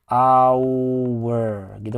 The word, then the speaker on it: hour: Kita lihat bahwa hour ini kan huruf depannya apa ini? Huruf depannya kan konsonan, tapi dibacanya bukan konsonan loh, tapi dibacanya dia gini. Hour, gitu kan kurang lebih seperti itu. Dibacanya hour. Jadi huruf hanya itu nggak dibaca.